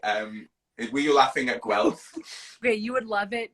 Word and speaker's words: Guelph: yeah cool though like the city is called guelph like one syllable just called wealth i don't know